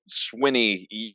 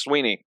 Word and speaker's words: Swinney: didn't know that Dabo Swinney or Sweeney is actually pronounced Sweeney yep it is spelled